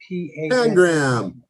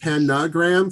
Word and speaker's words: pangram: Pangram. Thank you. You'll often hear pronounced panagram for some reason. You like sticking the other A, but Pangram.